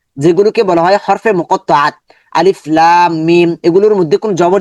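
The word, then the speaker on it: الم: লাম জবর লা বলার কোন সুযোগ নেই। শুধু লামটাকে আমরা লম্বা করব।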